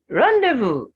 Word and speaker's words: rendezvous: the s is silent rendezvous it's a french word the earth is silent the s at the end is silent so that's a t